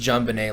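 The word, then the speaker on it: JonBenét: beauty pageant girl oh john bennett ramsey i found out it was actually pronounced jonbenet like it's french oh it probably it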